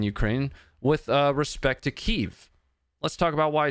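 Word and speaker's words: Kyiv: the situation in Ukraine with uh respect to Kev. Let's talk about why I said Kev and not Kiev.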